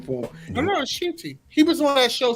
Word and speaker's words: Ncuti: Shooty.